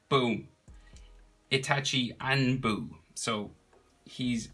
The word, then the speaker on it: Itachi: it's a running joke i always say itashi instead of itachi so there you go i said it right boom itachi and boo so he's